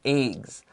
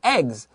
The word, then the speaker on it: eggs: But maybe some of you in listening probably have heard eggs. Both pronunciations are okay. Short E, eggs.